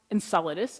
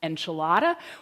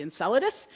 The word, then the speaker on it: Enceladus: people in the room this is pronounced Enceladus it is not pronounced enchilada or the other dozen things that I've heard it pronounced is actually Enceladus and it's another little